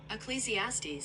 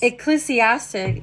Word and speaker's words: Ecclesiastes: I guess this word is pronounced ecclesiastes ecclesiastic ecclesiastes muses on life's enigmas and the way